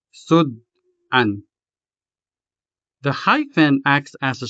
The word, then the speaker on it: sud-an: This word has two syllables, sud and an. Sud is a closed syllable because it ends in a consonant. The second syllable, an, is a two-letter syllable beginning with a vowel, a.